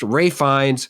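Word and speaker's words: Fiennes: Rines is it it okay so it it's pronounced Rines Anya Taylor Joy I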